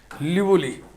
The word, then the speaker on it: Liouville: This is known as लिवोलीज, spelling थोड़ा टेढ़ा है, LIOUVILLE, लिवोली, लिवोली एक्सटेंशन।